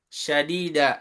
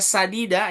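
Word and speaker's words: سَدِيدًا: Kemudian waqulu qaulan syadida. Sadida aslinya sadida ya. Perkataan yang baik, lembut. Kita baca dengan syadid. Perkataan yang kasar pakai shin. Itu juga jadi salah artinya.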